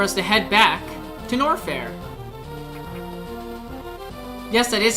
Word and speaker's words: Norfair: It looks like it's time for us to head back to Norfair. Yes, that is how you pronounce it.